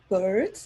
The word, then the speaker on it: Beard: And that's Bird. That's not pronounced because I usually beard like facial hair.